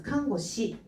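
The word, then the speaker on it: 看護師: 그래서 음독으로 읽어줄 때는 시라고 읽어주면 되겠습니다. 그래서 칸고시, 칸고시, 칸고시.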